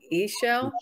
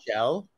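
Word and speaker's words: Ixchel: It's I don't know if it's pronounced with a Z, E-shell. Shell is how I feel it, but.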